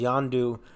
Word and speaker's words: Yondu: like inside his head, Yondu, Andanda. I mispronounced his name. For a cameo though. Yeah, so we see Michael Rooker return as Yondu, standing across from Kraglin, telling him, "I believe in you.